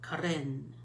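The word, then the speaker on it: Karin: These, I heard that the Corinne markers, it's actually pronounced with like a rolling R, like Corinne.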